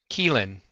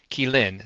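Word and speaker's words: qilin: not it's a how do you pronounce this pronounce killan kein is how you say it oh kein keyin so the accent is on the second slel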